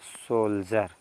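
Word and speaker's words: soldier: होगा आई ई आर अगर डी के जस्ट बाद आईई आर तब भी उसको क्या पढ़ते हैं ज ठीक है ना इसको पढ़ेंगे क्या पढ़ेंगे सोल्जर सोल्जर मींस होता है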